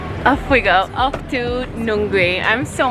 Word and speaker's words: Nungwi: I'm saying goodbye to New Teddy's and off we go, off to Nungwi. I'm so mispronouncing this name, I'm so sorry. How do you pronounce it? Nungwi? Nungwi? Nungwi. Nungwi. Yeah, Nungwi. Nungwi.